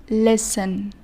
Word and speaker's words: listen: sounds in some words there are silent letters which means letters with no sound a hero of samito for example in the word listen there are sex letters and five sounds summit so we pronounce the word like this lesson listen not listen in some words one